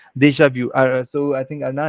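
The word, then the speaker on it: déjà vu: Deja yeah that's correct Deja VI so I think ARA it's V in the end and not Vu so Deja V Perfect all right uh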